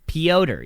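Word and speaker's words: Petr: would you say that peter yan pyoder neon that's how it's pronounced as we learned pyotr even though there's no o correct and we're just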